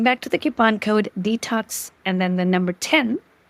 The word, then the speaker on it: Dtocs: it's detox 10 and it's spelled as the brand name DT OA detox and if you're wondering detox is a play on the word detox which means cleansing Journey